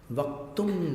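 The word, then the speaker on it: वक्तुं: वक्तुम गुणान, अनुस्वार का उच्चारण आगामी अक्षर में मिलाना है, इसलिए तुंग, तुंग जैसा उच्चारण करना। उंग, वक्तुम, म नहीं बोलना है।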